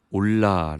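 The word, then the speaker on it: עולה: 이번 죄를 히브리어로 하면 올라 라는 단어를 했습니다 이 올라 라는 단어의 뜻은 올라가다 입니다 참 흥미롭게 도 20을 리어 올라는 우리말 올라가다 와 발음이 같습니다 어찌되었든 히브리어 올라가 의미하는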